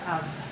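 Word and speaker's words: אב: Actually ang pagbigkas nito ay more like av.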